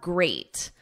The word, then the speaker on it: great: Now we have great. At the end, it's ate, like the past simple of eat. Yesterday I ate, and then just add a grr, great, great.